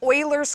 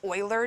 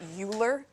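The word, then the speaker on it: Euler: did um it's called Oilers constant and there's a joke that says you're a real mathematician when you know how to pronounce his name because it's Oiler not uler so unreal mathematicians will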